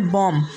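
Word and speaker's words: bomb: यानी अगर एम के बाद बी आ जाए तो बी क्या रहेगा? साइलेंट रहेगा। जैसे पहला वर्ड्स लिम, दूसरा वर्ड है कॉम, तीसरा वर्ड है टॉम और चौथा वर्ड है बॉम्ब, इसके बाद में थम, उसके बाद में क्लाइम।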